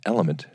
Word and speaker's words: LMNT: So, teamed up with our friends over at Element. It's spelled LMNT because they've changed my experience with drinking water.